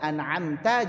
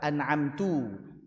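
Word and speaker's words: أنعمت: Contoh siratalladzina an'amta. Jadi apa? Anamtu. Ini jelas ini mengubah makna. Orang yang bisa baca tulis Al-Qur'an tahu harusnya fathah ta kok dibacanya tu.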